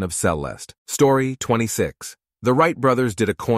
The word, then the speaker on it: celesta: Pronounced celeste, it is the instrument featured in Tchaikovsky's Dance of the Sugar Plum Fairy.